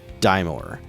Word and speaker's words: Daimor: Explore, slay fearsome foes, acquire powerful items, discover secrets, assist colorful characters, and defeat the evil Daimor.